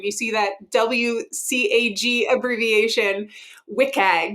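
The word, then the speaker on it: WCAG: So when you see that WC Abbreviation, WIKAG is like the cool in then way to pronounce that.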